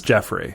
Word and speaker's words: Geoffrey: Well, it's spelled Geoffrey, but it's Jeffrey.